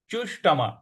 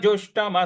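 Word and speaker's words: जुष्टम्: य अनार्य अनार्य जुष्टम जुष्टम ज पर छोटा ऊ की मात्रा और षट्कोण वाला श है तो मूर्ध्वा पे जीभ को लगाना है तो अनार्य जुष्टम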